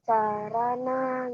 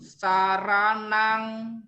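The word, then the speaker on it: saraṇaṃ: Ingat ya, kalau ada M titik atas dibacanya eng.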